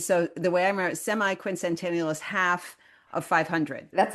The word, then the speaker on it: semiquincentennial: I remember last time you schooled me uh or you were very helpful in helping me pronounce the technical term. It's semiquincentennial.